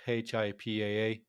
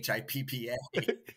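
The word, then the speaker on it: HIPAA: opened up the conversation I called it hi paa but it seems like the standard is to pronounce it Hipp right so apologies to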